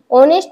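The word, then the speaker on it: honest: oval or oval sound जरीही ऑनेस्ट च spelling तयार होत असताना एच सुरुवातीला असेल तरी पण त्याचा उच्चार कसा होतो ए डब्ल एन इ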